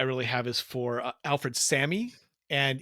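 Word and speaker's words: Salmi: have is for Alfred Sammy. And even though it has an L in it, it's pronounced without the L.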